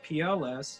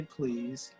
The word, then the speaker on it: PLS: my name so it's PLS you don't have to say please and then you have